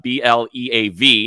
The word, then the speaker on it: BAV: believe just like uh B A V not spelled like the word believe but bav that gets you a